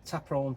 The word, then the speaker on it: Ta Prohm: So I've remembered how uh actually I've remembered what it's called and how you pronounce it. So it's Taperon Temple.